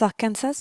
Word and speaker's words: Arkansas: c'est le deuxème Kas Arkansas vous vous souvenez Kas arkansa pour prononcer correctement donc c'est le deuxième